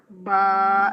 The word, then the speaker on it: ب: Touch हुआ है तो बा अदा हुआ। तो इसको हम प्रोनाउंस कैसे करेंगे? बा, बंद होंठों के गीले हिस्से से बा अदा होता है।